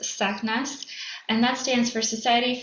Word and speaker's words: SACNAS: Um so SACNAS if you've heard of us or seen uh our acronym before it is pronounced SACNAS and that stands for Society for Advancement of Chicanos, Hispanics and Native Americans in science.